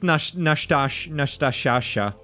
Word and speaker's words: Nastasha: You keep mispronouncing her name. I know, that's her name now. I know it's Nastasha.